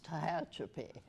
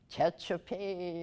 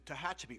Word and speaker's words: Tehachapi: this huge big earthquake nobody could pronounce tehachapi they would be giving a news report from new york or somewhere and they would call it chechapee or you know weird